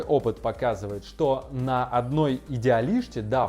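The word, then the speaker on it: Idealista: Однако мой опыт показывает, что на одной Идеалиште, да, в португальском, кстати, S читается как буква Ш.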